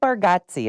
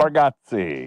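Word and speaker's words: Bargatze: And Nate Bargotsi, is that how I say his name? Nate Barati.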